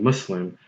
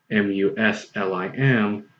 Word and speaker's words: Muslim: number one number two the sound us which is which is what you need to which is the something you need to produce when you pronounce the u.s. in mus l IM also exists in english look at the word was what is an english word it's not an arabic